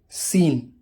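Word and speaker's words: scene: अक्सर एस के बाद और के से पहले सी साइलेंट होता है। एग्जाम्पल देखिए, सीन मंजर, साइंस डिसिप्लिन अदब और सलीके को बोला जाता है।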